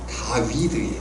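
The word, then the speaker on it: דוד: 다윗이라는 이름은 원래 발음대로 하자면 다위드예요. 다위드.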